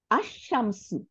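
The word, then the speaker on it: الشمس: কিন্তু আমরা লামটাকে উচ্চারণ করতেছি না, আমরা কি করতেছি? এই আলিফের উপরে যে জবর আছে এইটা গিয়ে শিনকে ধরে ফেলবে, এবং শিনের উপরে কি আছে? সাদ্দা আছে। তাহলে সাদ্দাটা কেমনি হলো, তাই না? আশ-শামসু, এটা তো শিন, তাহলে শিনটা হয়ে গেছে কেমন? লামের উপরে সুকুন আর শিনের উপরে জবর। তাহলে একটা অক্ষরের উপরে সুকুন আর একটা অক্ষরের উপরে হারাকা থাকলে দুইটা অক্ষর মিলে যাবে, মিলে গিয়ে সাদ্দা হয়ে যাবে। আমাদের যখনই আমরা সাদ্দা দেখব,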